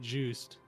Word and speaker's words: Joost: 29-year-old Wunder twins, Guy and Keith Joost. Sorry, Joost. That's probably how you say it. No, it's Joost. Are this Joost? Okay. Is that how the guy said it before? Yeah. That sounds like Dutch.